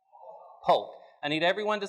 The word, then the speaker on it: Polk: There's a president's name that rhymes with Folk. What is it? Polk.